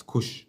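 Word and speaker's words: cosh: It's pronounced as kosh not cos kosh cos x and this is shine x.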